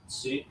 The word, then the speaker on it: soo: It is S-O-O, but it's actually pronounced Sue.